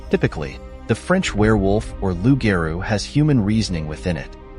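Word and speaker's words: loup-garou: Does lugaru rhyme with rugaroo? pronounced lu g- a ru and r u g- a ru respectively. These words rhyme with each other because rugaroo is the variant of French lugeru.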